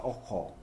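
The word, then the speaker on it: ojo: 오조는 스페니쉬로 오호입니다. 오호. 오호. 오호. 네. 예. J가 그 스페니쉬는 H 발음을 내거든요.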